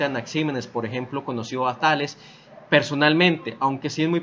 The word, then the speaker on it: Tales: Una cuestión básica que hay que tener en cuenta es que Tales, o Thales, como se pronunciaría en griego, fue en algún punto de la vida maestro de Anaximandro.